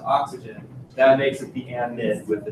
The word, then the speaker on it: amide: that makes it the amide with a D. That's why I pronounce it differently, so there's not confusion there. Amide with a D, amine with an M.